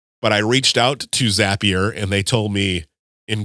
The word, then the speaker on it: Zapier: I reached out to zapier and they told me in quotes zapier makes you happier which is much better